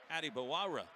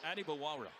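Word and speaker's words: Adebawore: by every everyone but PJ said actually how you say my name is Addie baa you know typically a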